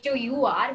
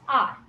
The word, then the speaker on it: hour: If I say HOUR, we'll say it as R. We don't say hour.